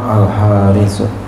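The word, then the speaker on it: الحارث: Wal khamis, dan yang kelima al-haris. Haris. Ini walaupun enggak ada alifnya tetap bacanya begitu, al-haris.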